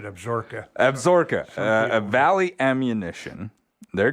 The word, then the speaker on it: Absaroka: new ammunition manufacturing company absaroka i usually say that mispronounced that did i pronounce that correctly this time around pronounce it absorka absorka a valley ammunition